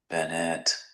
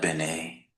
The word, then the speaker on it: Bennett: Bennett, not Benet. Bennett. Binet. You'll get it close, but it's Bennett, you see.